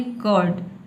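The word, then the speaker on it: curd: इसको आपको नहीं बोलना, आपको बोलना है कर्ड, कर्ड, ठीक है। र को साइलेंट रखना है।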